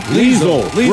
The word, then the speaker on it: Liesel: Liesel. Rhymes with weasel.